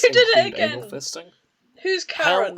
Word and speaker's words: Charon: So I'm wondering, this fic is about Charon and the how do you pronounce it? Charon. Not Sharon.